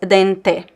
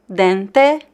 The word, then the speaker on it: dente: And again, we have the letter E at the end of a word, so we can have this vowel reduction and pronounce E as E. This is it's a variation of accent. You could pronounce the word dente also as dente, dente or dente. Both pronunciations are correct and very common in Brazil. It depends on the region.